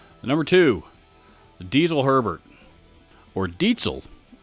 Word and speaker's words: Diezel: Number two, Diezel Herbert, or Dietzel, as Henning Pauly likes to remind us of how that brand name is actually pronounced in German, as this is a German company. However, over here in the States, most of us pronounce it as Diesel because it's spelled the same way as a diesel engine, with the exception of a Z in place of the S.